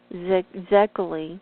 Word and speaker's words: Szekely: Edmund Bordeaux Zekeli, I think that's how you say it. It's spelled Szekely, was able to discover Essene documents in the secret archives of the Vatican.